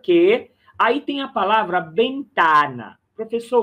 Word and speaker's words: ventana: Una puerta vieja es peor que una ventana. Olha só a pronúncia do V do espanhol.